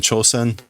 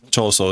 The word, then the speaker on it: Choso: I think I kept calling him Chosen. Whatever. Choso is his name.